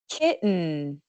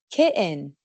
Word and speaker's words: kitten: En estas palabras es muy muy común escuchar un cierre de la garganta en vez de una t clara. Con mi acento estas palabras con una pronunciación más formal suenan mountain, curtain, kitten important. Pero cuando estamos hablando informalmente es mucho más normal decir mountain o mountain. Curtain o curtain kitten o kitten.